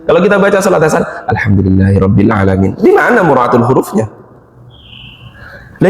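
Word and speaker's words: الحمد لله رب العالمين: Alhamdulillahi rabbil alamin. Enak kayaknya, Pak. Tapi di mulut semua, enggak ada di sini. Alhamdulillahi rabbil alamin. Kalau kita baca salat asar, alhamdulillahirabbil alamin.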